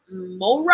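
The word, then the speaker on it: mowrah: maca sea cucumber extract green tea horsetail soybean mora i don't know what that is if you guys know what that is it's spelt m-o-w-r-a-h agave nectar and olive fruit like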